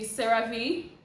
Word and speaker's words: CeraVe: I will mention is the CeraVe yeah I seriously that's how it's pronounced the ceramic acne foaming